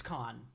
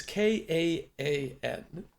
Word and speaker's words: Kaan: It's con. Yeah, it's con. Yeah, it's con, exactly. Cool. No, it's KAAN. There's 2 A's, no H. I'm Turkish.